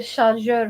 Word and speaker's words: شارجور: Charger like French pronunciation. charger or البريز. بريز. بريز or charger. واش ممكن ندير شارجور في الضوء؟